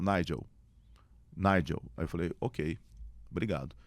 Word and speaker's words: Nigel: o seu nome, desculpa, é Nigel ou Nigel? Aí ele falou, Nigel.